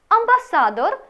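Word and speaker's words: ambasador: З цієї літери починається слово «амбасада», що означає «посольство», та «амбасадор», що означає «посол». Нагадаю, що наголос у польській мові, як правило, падає на передостанній склад.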